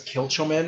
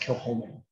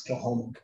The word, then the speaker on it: Kilchoman: You'll notice it looks like it says Kilchoman or Kilcoman. It's pronounced Kilhoman. Again, we said Gaelic was mean. Ignore that C, pretend it's not there, it's Kilhoman.